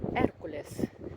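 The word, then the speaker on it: Hércules: Охоронець свежі іспанської Тори Еркулес. Наголос на першу на перший склад і бачитається.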